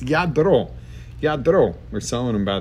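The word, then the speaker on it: Lladró: It's Yadro.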